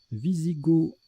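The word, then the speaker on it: wisigoth: côtes de coton égyptien wisigot avec ou sans oeufs c'est un adjectif on l'écrit qu'un W on prononce pas le TH d'ailleurs là la prononciation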